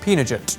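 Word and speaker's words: pinnekjøtt: sorted and preserved and i think it's pronounced pinochet but if you'd like to phonetically correct me in the comments down below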